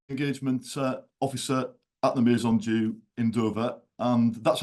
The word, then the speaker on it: Maison Dieu: I'm the man agement uh officer at the meon DU in do and that's how we pronounce it in do actually so that's that's